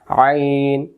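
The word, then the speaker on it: عين: তার সাথে দেখায় দিতাম আইন আইন আইন গলা চাপ দিবে না আইন অক্ষর হলকের মধ্য থেকে একটু চেপে পড়তে হয় চাপ লাগবে একটু আইন মাছের কাটা লাগে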